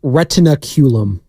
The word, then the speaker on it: retinaculum: up in Biology class believe it's pronounced retina culum retinaculum culum culum I thought wasum I